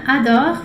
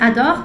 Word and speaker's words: adorent: Les femmes tá no plural, então esse adore tem que ser ENT no final. Adore. A pronúncia é a mesma, mas tem que ser com NT.